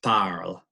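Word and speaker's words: parlent: an L or L pal they speak of ER at ent ent is silent in at the end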